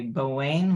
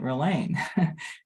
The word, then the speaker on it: Ralane: When I was little, I had trouble pronouncing my name, and I would say Bowain when people asked what my name was.